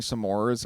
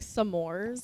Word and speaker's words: s'mores: You say it like s'mores. S'mores. Yeah, s'mores. No, but No, you said it like s'mores. s'mores. Like S'mores. two syllables.